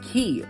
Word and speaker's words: Key: Everyone always drags me for calling these islands keys, but it's spelled key. People say it's K. It's not K. This is not a jewelry store. Every kiss begins with K. Just kidding. It's key.